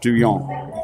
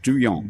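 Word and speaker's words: Duhon: today by Andrew home or pronounced duyan outside of New Orleans yes did you not know that yeah north up there in I mean north south west is in Lafayette and so on they pronounced do young do you attract do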